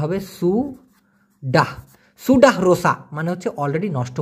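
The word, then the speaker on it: sudah: already নষ্ট হয়ে গেছে সে কষেত্রে বলবেন সুডা উচ্চারণটা হবে সুডা সুডাসা মানে হচ্ছে অলরেডি নষ্ট হয়ে গেছে সেগালা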